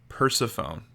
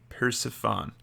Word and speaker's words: Persephone: I think I mispronounced that word. Persephone. Persephone.